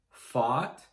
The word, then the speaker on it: fought: Fight, fought, fought. Again, just 3 sounds. F, A, T.